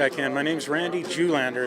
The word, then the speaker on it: Julander: My name's Randy Julander. It's spelled R-A-N-D-Y-J-U-L-A-N-D-E-R.